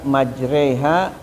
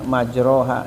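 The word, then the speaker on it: مجريها: ya alaihullah bukan alaihillah Seperti satu-satunya dalam Al-Qur'an yang dibacanya dengan imalah yaitu pada surah Hud ayat 41 ketika membaca majreiha wa mursaha. Padahal di tempat-tempat yang lain ya biasanya majroha ya.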